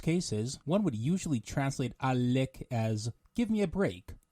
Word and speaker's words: עאלק: and originates from arabic when pronouncing the word make sure to lengthen it as such a lick let's review some examples